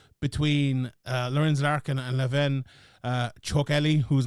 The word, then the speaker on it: Chokheli: Chokheli, whose name I for the first time ever have pronounced correctly, I believe.